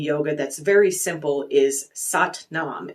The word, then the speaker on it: Sat Nam: And the phrase I like from Kundalini Yoga that's very simple is Sat Nam. It's Satnam. It's pronounced Sat Nam.